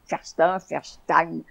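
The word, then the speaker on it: Faurstin: Elle s'appelait Ferstein. Ah, ça s'écrit F-A-U-R-S-T-I-N, mais c'était avec... Vous savez, c'est la prononciation allemande, ça, oui.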